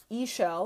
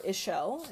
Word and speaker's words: Ishel: Okay, so Ishel or Ishel is how it's pronounced.